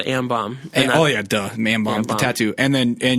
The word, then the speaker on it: Ambaum: The last mixtape is called Am Bomb.